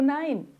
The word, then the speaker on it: nein: ou mesmo não, o Nein. Então vai ser isso mesmo, a pronúncia é um I.